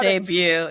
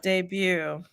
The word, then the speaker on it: debut: uh Brown Jackson is to make her Broadway debut it's pronounced debut it's you with the French you with the French anything with French you know it's I'm not debut yeah which just means she's making her first